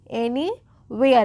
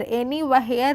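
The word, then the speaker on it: anywhere: about एनीवेयर एनी वेयर एनी हियर नहीं क्या होगा एनी वेयर एच जो है वो साइलेंट होती है डब्ल्यूए वाले वर्ड्स में जो एच होती है वो ऑलवेज साइलेंट होती है हम उसको नहीं पढ़ते हैं जैसे कि यहां पर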